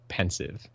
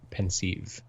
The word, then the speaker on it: Pensieve: when I'm reading it I definitely just go with pensive okay that's kind of what she settled on but yeah like like I I I I've all also hear a lot of like pensive yes yes pensive she